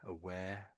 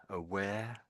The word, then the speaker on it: aware: Ah, it's more of an ah. You're saying air. It's more aware. Yeah, that's that's it. Aware. Aware. Aware. Aware. Sometimes you're flipping back to the V again here with the the W. You're making a V sound with the W is.